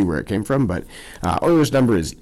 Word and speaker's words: Euler: Leonhard Euler, E-U-L-E-R, not Euler. It's pronounced Euler.